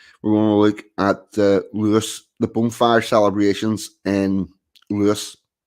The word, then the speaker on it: Lewes: in the usually peaceful country kind of Lewis pronounced Lewis East Sussex every year on the 5th of